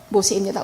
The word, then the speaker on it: 모세: 모세스라고 하는 것은 애굽식 이름입니다. 이것은 물에서 건져냈다는 뜻이지만 히브리어 발음은 모세입니다.